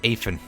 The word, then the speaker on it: Afin: just all allows love i pronounced i pronounced often's name wrong earlier named afin or often i pronounced his aphid earlier we're pretty fresh out